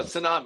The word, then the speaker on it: tsunami: Tsunami. Silver tsunami. No, tsunami. It's the T is silent. T is silent.